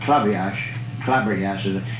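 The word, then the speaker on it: Klaberjass: And the game that Damon Runyon used to write about all the time, Clabberjass, it's K-L-A-B-B-E-R-J-A-S-S. It's a funny, but it's pronounced club. They call it club.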